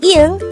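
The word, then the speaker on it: 이응: Ieung could be divided into 2 syllables. Ieung. The first syllable is just the sound of e with an ieung on the first position. And since it is on the first position, it has no sound.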